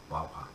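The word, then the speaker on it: guagua: pay that's AER La Wawa Wawa is spelled Gua Gua by the way we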